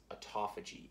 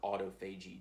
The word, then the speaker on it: autophagy: But One of the key components that we need to talk about with fasting is autophagy or autophagy, depending upon how you like to pronounce it.